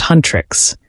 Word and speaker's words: Huntrix: The K-pop band Hunter/X, pronounced Huntrix, is a chart topping